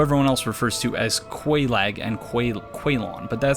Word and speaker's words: Quelaag: I always interpret Q-U-E as being a K sound because people from Quebec pronounce it Quebec, so that's how I try to do it.